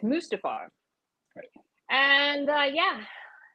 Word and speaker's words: Mustafar: mustafar i'm told because i've been wanting to pronounce it mustafar like something out of the lion king but i was told no it's mustafar and uh yeah it's